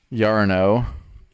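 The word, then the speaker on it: Iarno: it exactly uh i a r n o yarno albrecht a l b r e k and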